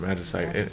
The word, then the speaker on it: magicite: I always pronounce it magicite, in English, in the English version.